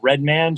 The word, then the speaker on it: RDMN: It's pronounced Redman. Just take the E's out of it.